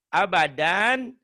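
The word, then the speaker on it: أبدا: Abadan jika dihentikan abada. 2 fatah dibaca 1 jika dihentikan itu namanya mad iwad. Abadan tulisannya abadan kalau dihentikan dibacanya kayak gini. Abada. Jadi panjang seperti mad tabi'i.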